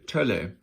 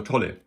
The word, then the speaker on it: Tolle: and that is be Tolle, or Tolle, sorry, I pronounce it always in a kind of German way with an umlaut here.